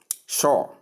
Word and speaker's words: sure: Now British calls it here from our transcription which is visible here. Uh as they pronounce it as shore shore. Can you see shore? Um Americans pronounce it as sure.